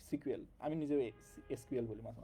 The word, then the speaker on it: SQL: এসকিউএল বলে, SQL, বাট এটার উচ্চারণ হলো সিকুয়েল।